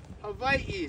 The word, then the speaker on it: Hawaii: What's the correct pronunciation of the Hawaiian islands? Hav. Good. Havi.